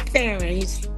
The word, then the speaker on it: Farren: Is it pronounced Farren or Farren? It's Faren.